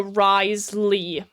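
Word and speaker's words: Wriothesley: that said so um ignore the W. Then also ignore the IO and the the TH like ignore over half the letters in his in his name. Um, and then they just made it to Risley kind of sort ofish.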